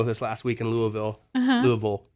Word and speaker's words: Louisville: Louisville is how you say it. Louisville. Yeah, you have to act like your mouth is full.